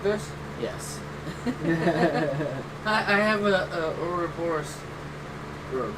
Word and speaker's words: Ouroboros: I have a Ouroboros. You said it right. Ouroboros, yep.